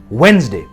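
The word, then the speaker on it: Wednesday: इसका सही उच्चारण है वेडनेसडे। यहां पे डी जो है वो साइलेंट है, तो हम इसे वेडनेसडे कहते हैं, वेडनेसडे नहीं, वेडनेसडे।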